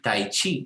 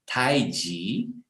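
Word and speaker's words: 太极: En chino no se pronuncia chi, tai chi, sino que se pronuncia ji, tai ji, y ji significa lo supremo.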